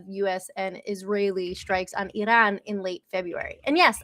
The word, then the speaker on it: Iran: East ahead of US and Israeli strikes on Iran in late February. And yes, I say Iran because that is how you're supposed to pronounce it.